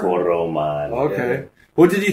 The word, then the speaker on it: Toroman: Is it Tormund or Tormund? Right, though? It's Tormund. Yeah, it's spelled Toroman. T-O-R. You got to roll the tongue on the R? Toroman.